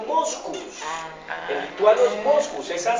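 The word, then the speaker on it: Mockus: Moscus porque en lituano su apellido se pronuncia Moscus.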